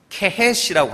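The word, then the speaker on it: חטא: 그래서 죄를 케헷이라고 하는데, 이 케라는 건 가래 뱉을 때 케 하듯이 그렇게 발음을 해야 된대요.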